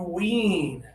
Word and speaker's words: wean: This one has the high tongue, not much air. So, if you think about your front teeth right here, and you think about the top of your mouth, and this is your tongue, your tongue is high, and there's just a little bit of air for this one.